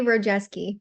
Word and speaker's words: Rojewski: Is it Rojewski? Rojewski? Yeah, Rojewski. Yeah, you got it right.